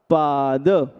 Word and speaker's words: पाद: फिर शब्द पाद में दा का उच्चारण अकार के साथ कीजिएगा पाद।